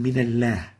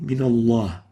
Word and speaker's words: من الله: saying min Allah. Actually, it should have been min Allah. Lam here should have been given tafkhim. So the right way of pronouncing this, من الله. Allah, not Allah. So here, min Allah, not min Allah.